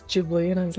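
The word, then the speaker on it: Ghibli: Apparently it's the it's not gibbly. It's jibly.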